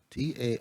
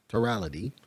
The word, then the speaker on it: Tarality: The name of this token is called, I'm going to pronounce it the way they did on the call that I listened to, Tarality. Tarality. Tarality.